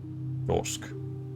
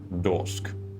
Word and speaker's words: Dorsk: Dorsk. Once more, Phil. Dorsk. Like a door with an SK on the end?